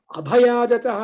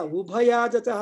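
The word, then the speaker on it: ಉಭಯಾದತಃ: ಅದಕ್ಕೋಸ್ಕರ ನಾನು ಹೇಳಿದಲ್ವಾ, ಅಭಯಾಜತಃ ಅಂತ ಹೇಳ್ತೀರಿ, ಅಲ್ಲ ಉಭಯಾಜತಃ ಅಂತ ಹೇಳ್ಬೇಕು ಪುರುಷ ಸೂಕ್ತದಲ್ಲಿ.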